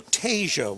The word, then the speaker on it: Tasia: be like charlie charlie so tasia walker is the pronunciation uh that from athletic